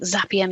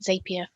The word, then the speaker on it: Zapier: Um and the the team at Zapia have a tagline something like Zappia makes you happier. Um, it's a quite a bold claim and I think mostly intended to help you remember how it should be said or pronounced. I've had to retrain my brain as I called it Zapia for the first I